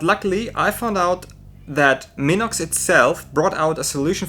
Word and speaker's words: Minox: This is created by Minox, or Minox to say it correctly.